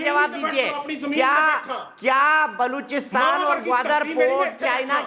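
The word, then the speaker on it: Gwadar: देखिए दीपक जी, आपने कहा कि गोदार में क्या करता है, वो क्या करता है सीपैक के, और उसका नाम गवादर है। गवादर तुम्हारा शहर नहीं है, इट is pronounce गवादर, Punjabi नहीं है, ग्वादर।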